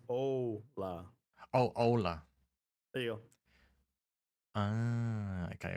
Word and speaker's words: hola: By the way, using the wrong O It's a ola.